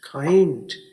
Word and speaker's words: kind: इसकी आवाज़ में एक तो के और आई से बनने वाली आवाज़ असल में KAI है, खाई। देखिए खाई, उर्दू में काफ अलिफ और ये खाई। और दूसरी आवाज़ एन और डी से बनने वाली आवाज़ अंड। उर्दू में देखिए अलिफ नून और डाल, अंड, खाई, अंड, काइंड।